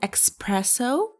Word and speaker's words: espresso: Do you know how to pronounce it correctly? Is it espresso?